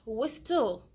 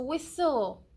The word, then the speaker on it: whistle: the silent tear all it is not what still you see it is a whistle whistle I like the way